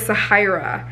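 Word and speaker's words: Zahayra: But her name is Sahira.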